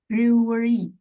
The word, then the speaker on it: brewery: Discussing beer making bars while sober is hard enough thanks to that tricky middle syllable. Okay, that's perfect. How to pronounce this one again? Brewery.